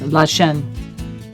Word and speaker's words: Lachine: I've learned the actual pronunciation is Lachine.